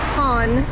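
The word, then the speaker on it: Cannes: only 20 minutes we're heading to can's pronounced con and it was raining here this morning and the weatherman says severe thunderstorms and flooding and cons so we'll see as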